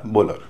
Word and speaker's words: bowler: BOWLER, बोलर, इसमें भी stress जो है शुरुआत के हिस्से में है, इसलिए उसका उच्चारण बोल हो रहा है, बाद के हिस्से का उच्चारण अर हो रहा है।